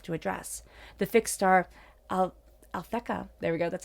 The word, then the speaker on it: Alphecca: The fixed star Alphecca, there we go, that's how you say it,